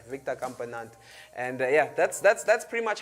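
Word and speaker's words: Victor Campenaerts: Yeah, these names with the, yeah, I said it right, Victor Campenat.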